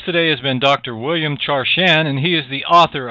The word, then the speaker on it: Charschan: enlightening our guest today has been dr william char chan and he is the author of cheating mother